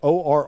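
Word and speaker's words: Orr: I know that or which is spelled o r r but pronounced or will be uh their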